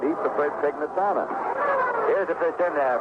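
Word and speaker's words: Pignatano: Letters used to come in from people saying it should be pronounced pinatano and Joe said he preferred Pnitano.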